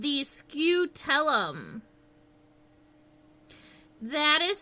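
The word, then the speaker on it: scutellum: in here on stink bugs is called the scootellum that is spelled um since I'm sketching I'm not like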